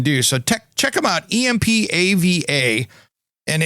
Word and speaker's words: EMPAVA: Plunge Indoor Tub by EMPVA, or EMPAVA, Empava, I believe that's how it's said.